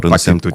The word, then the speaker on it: Patitucci: É de origem italiana, né? É que nem coach. Coach Isso. é com 2C. Então, 2C em italiano é T, né? Então, seria o correto, Patitucci. Mas tem algumas pessoas que